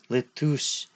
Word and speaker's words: LeTouse: Lettuce were talking about something. For the last time, his name is Letus.